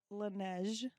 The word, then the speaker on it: Laneige: And then we looked it up right before this episode, and we got the correct pronunciation. So it is the Laneige sleep mask Yay!